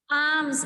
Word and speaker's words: arms: Arms, R is silent.